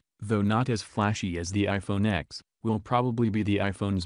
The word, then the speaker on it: iPhone X: at $999 the new iPhone X pronounced like the number 10 will have a screen